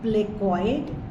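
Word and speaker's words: placoid: scales है they are प्लेकॉइड in cartilaginous fishes मतलब इसमें सी साइलेंट है तो साइक्लोइडल टाइप ऑफ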